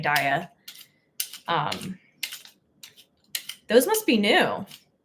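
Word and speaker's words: Daiya: Dia oat cream cheddar shreds I know it's pronounced DEA but I I just prefer saying Dia um those must be new I I got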